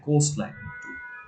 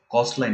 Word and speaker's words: coastline: কোস্ট কস্ট লাইন না, কোস্ট লাইন, কোস্ট। মানে ঠিক এখানে আছে, আমি আর কি খ উচ্চারণ করতেছিলাম coastline। হ্যাঁ কোস্ট লাইন, এটা একটু ক আচ্ছা, দিলে এটা হচ্ছে কস্টের মতো হয়ে যাচ্ছে, এটা কোস্ট হবে, কোস্ট।